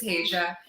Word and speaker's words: Regia: So typically people, that's where I start is I'm like, hey, it looks like Regina without the end, but it's Regia.